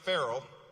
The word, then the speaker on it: Farrell: Now, Deputy Mayor Farrell, which rhymes with Mayor Harrell, by the way, is hitting the ground running on our transportation, parks, and climate portfolio.